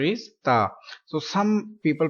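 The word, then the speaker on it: ت: Next letter is Ta. So some people pronounce this letter Te, Te. So this is Urdu accent. Don't pronounce in Urdu accent. We will read in Arabic.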